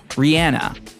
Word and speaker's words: Rihanna: we're on a plane on a Runway at LAX Rihanna and yeah that is how you say her name hi Vogue it's Rihanna